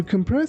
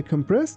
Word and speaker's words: compress: I compressed my clothes to fit into a single suitcase. Here. Be careful that we don't say compress. We say compress, compress, compress.